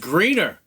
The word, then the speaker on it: Grener Power: It's actually pronounced Greener. They actually corrected me, by the way. It's pronounced Grener Power.